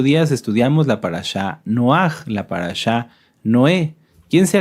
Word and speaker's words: Noaj: Recuerdan que hace 8 días estudiamos la parashá Noaj, la parashá Noé. ¿Quién se acuerda cómo era la pronunciación correcta de Noaj?